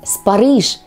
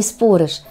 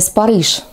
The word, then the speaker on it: спорыш: будет ещё один сюрприз спорыш друзья именно так спорыш а не спорыш вот это как раз разновидность горца произносится спорыш с ударением на последний слог уверено многие удивлены Дада